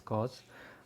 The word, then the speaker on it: cos: So usually written the first three letters, cos, usually pronounced as cos of x, would be equal to the ratio of adjacent side by the hypotenuse.